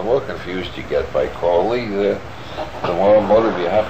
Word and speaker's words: Crowley: My name is Aleister Crowley, because that I am holy. My enemies say Crowley and wish to treat me foully. So now you'll never forget how to pronounce it. It's Crowley. Crowley.